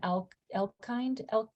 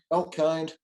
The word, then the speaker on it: Elkind: you grab that Elkind. Is that how you say it, Elkin? Yeah. Elkind. Elkind, I got it, nailed it.